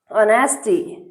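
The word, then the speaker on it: honesty: टी H with his एच आई एस हिज ऑनेस्टी ऑनेस्टी एच ओ एन ई एस टी वाई क्या पढ़ते हैं इसको ऑनेस्टी H silent रहता है ऑनेस्टी पढ़ा जाता है तो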